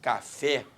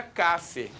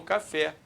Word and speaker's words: café: que quando você fala café a sílaba tônica é o fé e pare porque se não fosse o fé eu falaria Cafe e não café Pô eu quero por